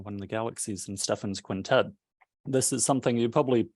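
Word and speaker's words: Stephan's Quintet: up and say that I'm pronouncing it to Stefan's quintet as opposed to Stephen's quintet that's at least how I've heard it always referred to as it's a series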